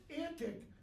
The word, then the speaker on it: antique: t i q e in Shakespeare's day our antique rhymed with that frantic antic all right and there's